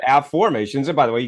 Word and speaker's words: Afformations: i o n s a formations not affirmations okay but AFF formations and by the way